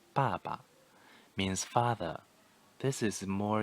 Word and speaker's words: 爸爸: ta the next one pronunciation first term plus neutral tone the same character baba means father this is